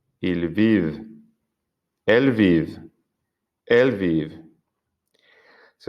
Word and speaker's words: vivent: y el del plural, pero he pronunciado la V en el plural, la V que está antes de la ENT.